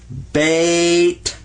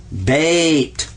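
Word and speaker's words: بيت: does in arabic because the word in arabic for house is bait bait because the yah sound in arabic is just like the y sound in english watch this i wanna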